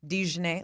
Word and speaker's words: Dane: Yeah, they landed on a hard jane. That's correct, isn't it? No, it's a Z. Dane, like the like mustard Djon Dane.